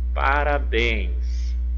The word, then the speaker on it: parabéns: Parabéns, parabéns, parabéns. Olha só, em parabéns eu tenho uma palavrinha com 3 sílabas. Parabéns, parabéns. E observe que a última sílaba é o bens, a mais forte.